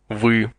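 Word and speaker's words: вы: the word for you we we phonetically speaking this word would be pronounced like the two letters v y or V but only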